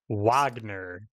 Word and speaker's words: Wagner: um it is pronounced Wagner apparently yes because they they they use the wrong character in the game so it's English W instead of German W this is the other